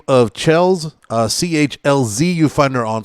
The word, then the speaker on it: Chlz: Now, did I pronounce the name correctly? Chlz. Yes, Chlz, right?